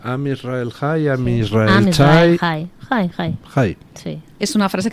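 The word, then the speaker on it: עם ישראל חי: ¿Cómo se pronuncia? Am Israel High, Am Israel Chai.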